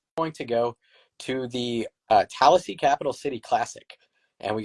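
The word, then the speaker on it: Tallassee: I don't actually know how but that appears to be the pronunciation for it. Tallasee? Also, I had to specify it was not Tallahassee, that it is regularly mistaken, which I can see,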